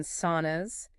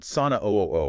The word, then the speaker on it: Sunn O: the band Sunn O, we're pronouncing that simply as sauna, like the hot room. Not sauna O or anything like that, just sauna.